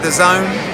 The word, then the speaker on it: DAZN: DAZN, DAZN. Now we know how to pronounce it.